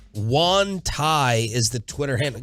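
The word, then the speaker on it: Xuan: Enterprise reporter for ESPN is it Juan X is you isn't X usually maybe it's like my name pronunciation yeah it's Sean Thai anyway scepter is trying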